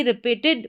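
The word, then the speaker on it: wrap: Examples देखेंगे तो यहां पर है राइट, रॉन्ग और रैप। तो यहां पर डब्ल्यू आर है स्टार्टिंग में डब्ल्यू आर और यहां पर आर जो है उसका उच्चारण ड करके हो रहा है। डब्ल्यू साइलेंट है। यानी कि डब्ल्यू आर को आप सीधा र पढ़ दें।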